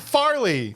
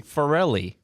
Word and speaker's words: Farrelly: Is it Peter Farrelly or is it Farley? Farrelly.